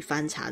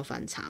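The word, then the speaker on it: 番茶: 的茶都叫番茶嘛。这个番茶它念作邦家、番茄的番，番茄的番，对。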